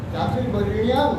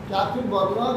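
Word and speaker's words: চাতুর্বর্ণ্যম্: চাতুর্বর্ণিয়াম মায়া সৃষ্ট গুণকর্ম বিভাগ, গুণ এবং কর্মের দ্বারা চাতুর্বর্ণ চার বর্ণ সম্বন্ধীয় ব্যাপারটা আমি সৃষ্টি করেছি। বর্ণ সৃষ্টি করেন ওইটা ভুল অনেকে উচ্চারণ করবে ব্যাখ্যা করে। চাতুর্বর্ণ নয়, বর্ণীয়ম, মধু নয় জফলা, বর্ণীয়ম, চাতুর্বর্ণিয়ম মায়া সৃষ্ট বর্ণ সম্বন্ধীয় ব্যাপারটা আমি সৃষ্টি করেছি।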